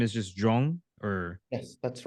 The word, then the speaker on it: Joung: How do I pronounce that properly? Okay. And then last name is just Joung, or Yes, that's right.